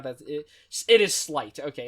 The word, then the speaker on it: Slyt: It is Slight. Okay, it's SLYT. Don't like that name. That's just not a... Even though it's pronounced Slight, when I see it